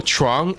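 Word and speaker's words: Trọng: So Trong is my name, right? Or technically That's how you say it in Vietnamese.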